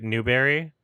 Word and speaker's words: Newbury: you live in Newbury we pronounce it Berry Newberry you don't have to